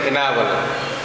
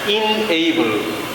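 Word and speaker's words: enable: আমি আরেকটু উদাহরণ দিই, যে এই যে আমরা এখানে আছি ইএনএবিএলই, অনেকে বলে এনাবল, আসলে এনাবল না, ইনএবল। ইনএবল ইনএবল, এন না, ইনএবল।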